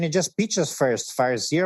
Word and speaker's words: Farseer: Can you just pitch us first, Farseer, or did I pronounce it correctly, actually? Farseer, yeah, you've said it right.